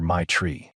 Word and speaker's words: Matre: She laughed and explained that everyone called her my tree because that is basically how you pronounce it.